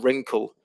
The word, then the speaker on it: wrinkle: e and vineyard and wrinkle with again with that w r where the where the w is silent so there's some other